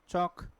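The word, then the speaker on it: chalk: of income ठीक अच्छा कुछ वर्ड जिसमें क्या भी ला एल क्या भी साइलेंट होता है बोला नहीं जाता स्पेलिंग में तो होता है एल ब ल का उसका उच्चारण नहीं होता है ठीक है क्या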